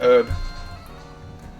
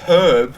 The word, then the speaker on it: herb: Yeah, like herb. Like herb. And then in New Jersey, herb, when you pronounce the H, is like a derogatory